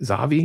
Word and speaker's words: Zavvi: Zavvi?